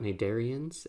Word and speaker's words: Cnidaria: This is one of those strange Latin words with a silent C, but we'll see that also will be true for our next phylum, phylum Ctenophore.